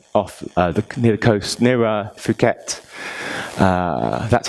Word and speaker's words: Phuket: There's a tiny, tiny island off near the coast, near Phuket. That's how you pronounce it. Some people pronounce it in a ruder way, but it's not that.